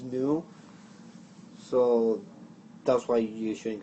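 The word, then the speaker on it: ν: V is actually uh a symbol pronounced new so that's why you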